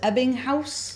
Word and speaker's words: Ebbinghaus: But now hearing how you, and I believe it's pronounced Ebbinghaus.